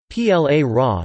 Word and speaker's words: ปลาร้า: PLA Ra, Thai, Plara pronounced place Ra acute, also called platak PLA